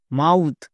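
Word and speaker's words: mouth: হয় তাহলে থ বসাও এবার একসঙ্গে উচ্চারণ করো এম ও ইউ টি এইচ মাউথ একে আমরা ভুল করেও মাউথ বলতে পারবো না বোঝা গেল শব্দের শেষে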